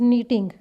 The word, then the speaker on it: knit: एंड Mrs cook is नीटिंग a sweater. Sweater बुनने को क्या कहते हैं? निट करना। KNITTING, के और एन जहाँ पर इकट्ठे आ जाते हैं वहाँ पर के साइलेंट होता है।